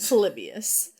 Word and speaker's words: Polybius: So well, you can believe how do I pronounce his name? Exactly how you did. Polybius.